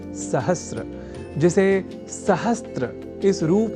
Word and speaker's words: सहस्र: पर हम जब अर्ध सकार के बाद र इस अक्षर का ध्यान रख लें तो सहस्र इस शब्द के प्रयोग में हम अपने आप को अच्छी स्थिति में पाएंगे, अर्थात उसका अशुद्ध उच्चारण नहीं करेंगे। तो यह शब्द सहस्र इस रूप में ही सर्वथा शुद्ध है।